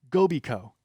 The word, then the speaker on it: Gobi Co: um by the way it's gobi co get it as in goby company because the co is a different color than the goby yeah we've been wondering